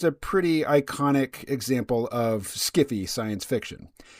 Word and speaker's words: sci-fi: There is sci-fi, which author Harlan Ellison says should be pronounced skiffy.